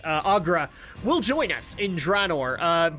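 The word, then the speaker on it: Aggra: So we'll actually see later that I want to say her name is Goel, but that's not right. Agra will join us in Draenor because of fan backlash.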